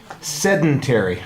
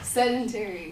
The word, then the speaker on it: sedentary: uh is pretty good you're gonna have to work on that pronunciation because it's killing you it's it's it's like the main word it comes up six times in your speech and you say it wrong every time sedentary sedentary sedentary sedentary